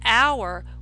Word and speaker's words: hour: all right but with our we usually use an don't we why is that because you don't hear the H sound the H is silent right so when you